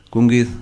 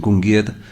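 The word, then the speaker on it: Cwmgiedd: Cungid es muy difícil pronunciar en galés, ¿no? Sería algo así como Cungid, que habría que decir.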